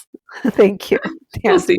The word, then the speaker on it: Videopolis: I can't even pronounce that today. Theopolis? Videopolis.